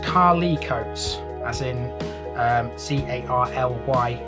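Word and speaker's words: Carlecotes: would make sense actually now carla coates is pronounced carly coates as in um c-a-r-l-y-c-o-t-e-s it's pronounced like that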